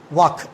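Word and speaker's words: walk: Everybody knows it, वॉक। Okay, L is silent, वॉक, वॉक्ड, वॉक्ड, चलना।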